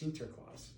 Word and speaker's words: Sinterklaas: article titled santa claus saint nicholas in dutch is actually pronounced sinterklaas which i'm sure you